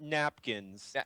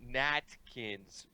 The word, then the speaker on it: Natkins: She is a Natkins, geek-like not napkins. Natkins. Natkins. Pronunciation Natkins.